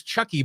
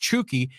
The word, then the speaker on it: Chucky: right yeah chuki Lozano I always thought it was Chucky but I guess it's it's pronounced chuki he is a very